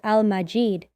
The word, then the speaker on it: ٱلْمَجِيد: It's written as and pronounced as Al-Majid.